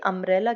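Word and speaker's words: umbrella: यू तो यहाँ पे भी नहीं आता, अम्ब्रेला जब पर प्रोनाउंसिएट होता है, और ए क्या होता है, एक हमारा वोवल साउंड होता है, इसलिए हमारा इसके साथ क्या यूज होता है, हमेशा आर्टिकल एन यूज होता है।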